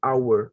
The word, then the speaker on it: hour: it should be v hour it's not the power okay because this word should be pronounced without the sound of h so that's why we